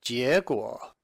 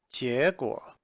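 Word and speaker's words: 结果: It's pronounced 结果. 结果.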